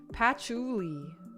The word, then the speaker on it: Patchouli: Patchouli. Really? Patchouli? Really? It's not Pacholi. Patchouli? But it's spelled with a C-H-O-U.